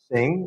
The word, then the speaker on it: CING: and I don't mean I don't mean sing as in sing I mean c i n g pronouncing it sing okay and it is